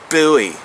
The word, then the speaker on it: Bowie: It is called the Becker BK9 Combat Bowie or Buoy if you want to be a buoy pronunciation uh critic. I'm sorry. When they changed the spelling to B O E, I'll call it buoy, but right now it's it's spelled like it should be Bowie. So, I'm going to say Bowie because Bowie for one doesn't sound stupid.